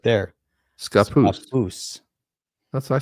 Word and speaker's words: Scappoose: Scappoose. Scappoose. That's what I said. I think I All right, close. so Scappoose. There's no Scappoose. Scappoose. Pronounced like- like a native baby or young child. A papoose.